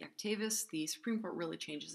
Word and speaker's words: Actavis: So Preactivis, apparently it's pronounced Actavis, not Activis.